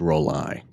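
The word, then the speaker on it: Rollei: It's supposed to be pronounced roll-eye, which is kind of what I suspected, but I don't know that anyone...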